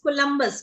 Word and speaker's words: Columbus: Ma'am ma'am जे तुसी word बोलिया COLUMBUS, ma'am ओदी प्रोनाउंसिएशन की है? बच्चे this is कोलंबस। कोलंबस इज a name.